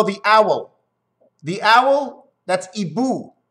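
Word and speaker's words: hibou: owl the owl that's ebu we're french don't pronounce the h it's e boo boo is guardaboo is to watch out for but it's ebu don't pronounce the h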